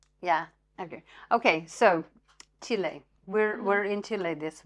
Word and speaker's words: Chile: Um, and whatever year it was, um, I remember a lot of people, you know, Chile, Chili, Chilly, that's what that's how we pronounced it.